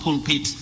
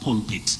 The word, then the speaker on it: pulpit: But when we are talking about pulpit, it's just pulpit, not pulpit.